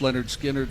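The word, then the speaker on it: Lynyrd Skynyrd: the ones everybody knows pronounced Leonard skinnard second helping and uh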